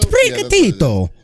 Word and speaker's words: Sprigatito: Sprigatito. Yeah. You gotta say it like that. It's Italian.